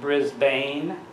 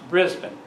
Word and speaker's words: Brisbane: people it's not pronounced Brisbane it's pronounced Brisbane that's how the Aussies pronounce it from Brisbane they took